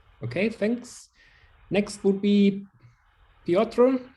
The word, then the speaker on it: Piotr: Next would be Piotr. How do I pronounce that correctly? Yeah, you pronounce that correctly. It's my name is Piotr.